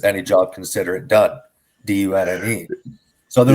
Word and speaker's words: Dunne: So for anybody that's listening, Tom's last name is spelled D-U-N-N-E. And so it's Dunne Power, D-U-N-N-E. And every time he says anything, he's like, oh yeah, consider it done.